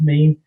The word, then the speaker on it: mesne: Remember I spoke earlier about Camden and about the case where the mean landlord or mezzanine landlord, as some of you call them, it's pronounced mean, mesne from mezzanine, so in the middle, as you understand.